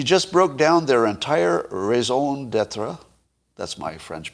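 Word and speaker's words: raison d'être: the mississippi she just broke down their entire raison d'etre that's my french pronunciation there in like 10 minutes and then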